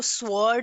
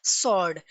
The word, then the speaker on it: sword: sword, sword, W is silent, हम इसको sword नहीं pronounce करेंगे, we will pronounce it as sword, W will be silent।